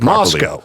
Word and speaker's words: Moscow: Moscow. So that way when I when I say that name to somebody, they don't go, "You're not from around here, are you, buddy?" Yeah, Moscow.